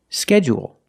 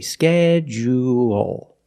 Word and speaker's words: schedule: first syllable only and some people stress both syllables if you stress both syllables you say schedule schedule and you say schedule schedule let's hear some